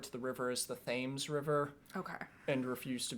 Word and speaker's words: Thames: of london referred to the river as the thames river okay and refused to be corrected by